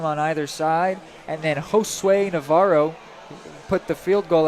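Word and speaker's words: Josué: it's an awesome name it is a Spanish version of the name Joshua it's spelled j-o-s-u-e and it is Josue pretty awesome name there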